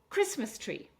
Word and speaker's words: Christmas tree: Christmas tree. So three syllables, but this time we're going to stress on the first syllable.